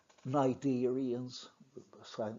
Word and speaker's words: cnidarians: These phyla are shown in the third row below, and you can see that they have names: porifera sponges, cnidarians, silent C, C is not pronounced, animals like jellyfish, then platyhelminths, flatworms, nematoda roundworms, annelids, segmented worms, mollusks, arthropods, and echinoderms, animals like starfish.